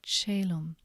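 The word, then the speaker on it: caelum: When A and E are together, they're pronounced A as in fade, for example, celum.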